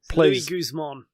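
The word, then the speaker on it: Luis Guzmán: Louis Guzman. That's how I've heard it pronounced.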